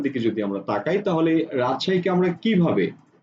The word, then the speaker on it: রাজশাহী: যদি আমরা তাকাই তাহলে রাজশাহীকে আমরা কিভাবে উচ্চারণ করছি আমরা উচ্চারণ করছি এভাবে রাজশাহী আমরা কিন্তু এভাবে বলছি না রাজো রাজশাহী আমরা কিন্তু রাজশাহী বলি না আমরা যা বলি সেটাকে